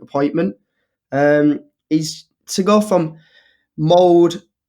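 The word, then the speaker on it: Molde: He's to go from Mould, that's how you pronounce it, to Cardiff and then to Manchester United.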